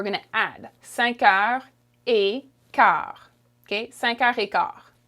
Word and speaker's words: quart: quarter in french is car okay the u is silent and this t is also silent okay it looks the